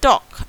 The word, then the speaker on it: talk: We are not speaking this letter L. So L sound is missing. So we say talk and not talk.